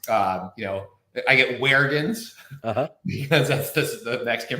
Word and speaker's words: Juergens: last name is pronounced Jurgens like the lotion okay uh but it does have an extra vowel in it so you know I